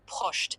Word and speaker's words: Proscht: OK, et en suisse allemand, c'est différent ou ? Oui, en Suisse alémanique, ils utilisent souvent Proscht avec une légère variation de prononciation.